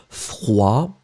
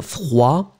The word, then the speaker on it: froid: So masculine form will be froid, remember, final day not pronounced, froid, and then feminine form, because you add this you will pronounce the d in the end. So masculine form froid, feminine form froide.